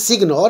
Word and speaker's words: signor: Signor, that is here generally you can pronounce signor.